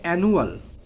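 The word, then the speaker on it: annual: অর্থ উচ্চারণ ও নতুন বাক্যে প্রয়োগ শিখবে এখানে অ্যানুয়াল অ্যানুয়াল অ্যানুয়াল উচ্চারণ কি হবে এন নিউল অ্যানুয়াল অ্যানুয়াল হচ্ছে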